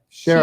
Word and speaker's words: Shera: information we've we've got uh shara shira shara sarah that's how they pronounce it in the audience listen